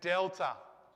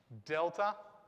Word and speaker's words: delta: alpha b gamma and then delta delta just like the d in english it's exactly the same as you'd expect the d so we're going nice